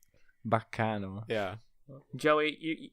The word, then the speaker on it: Baccano: guys, everyone's had the pronunciation wrong for years. I didn't even realize it was Italian. Baccano.